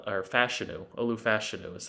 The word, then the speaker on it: Olu Fashanu: Olu Fashanu, or Fashanu. Olu Fashanu is how you pronounce it, out of Penn State.